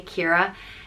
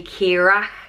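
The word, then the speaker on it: Keeragh: a g h on pronounced the same way Kira and again this can be pronounced differently all around Ireland and they could say Kira kirok kiray Kira um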